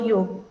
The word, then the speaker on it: योग: So when we से the word योग, जब हम लोग संस्कृत में प्रोनाउंस करते हैं तो उसका उच्चारण सही तरह से होता है, जैसे कि योग. मगर कई लोग जैसे इंग्लिश में प्रोनाउंसिएशन जब हम करते हैं तो इट is always मिसप्रोनाउंस्ड एज योगा, तो उसको एक्चुअली योग ऐसे कहा जाता है.